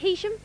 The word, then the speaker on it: Heysham: Right, first off on the adventure course are Heysham High School. That is how you pronounce it, isn't it? Heysham? Yeah. It's spelled H-E-Y though.